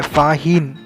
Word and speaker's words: Faxian: फाहीन FAHIEN. Okay. Actually ये English type pronunciation है, बट जो अगर चाइनीज़ टाइप प्रोनाउंसिएशन में उसका स्पेलिंग आता है FAXIAN, फाशियान. ठीक है.